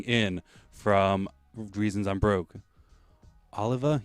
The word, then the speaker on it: Oliva: Oliva? Yeah, Jay Oliva. Did I say it wrong? Did I say Olivia?